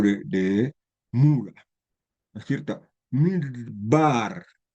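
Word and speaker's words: מדבר: Midbar, es como que es tan rápida que no se pronuncia, es muda, pero esta letra no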